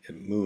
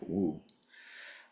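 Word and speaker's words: 無: word actually so in moo is the Japanese pronunciation it's also the Korean pronunciation but it's a same word in Chinese which in Mandarin modern Mandarin pronounced more like woo um but regardless of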